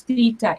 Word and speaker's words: theta: If theta is in radians, we can just use theta instead of sine theta. Theta, so that's how you say it, theta, not theta.